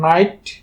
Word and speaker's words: night: ঠিক একইভাবে আমরা NIGHT উচ্চারণ করব নাইট, LIGHT লাইট, RIGHT রাইট, MIGHT মাইট, TIGHT টাইট।